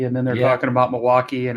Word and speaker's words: Milwaukee: It's pronounced Milwaukee, Oh, wow. according to Alice Cooper.